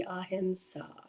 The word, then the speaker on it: ahiṁsā: So when pronouncing the word it would be a himsa.